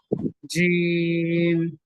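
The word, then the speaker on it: جيم: बा ता जी जैम नहीं जीम जी एकदम प्लेन जीम जीम ह आ नो ह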